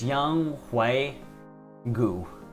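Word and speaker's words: Younghoe Koo: It's Young Hui Gu. So it's a G instead of a K sound.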